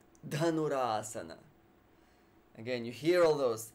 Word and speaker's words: dhanurasana: the ball posture dhanurasana again you hear all those de bunda dunno or duh actually it's it's one of the benefits of Sanskrit the aspirated sounds you actually practice kapalabhati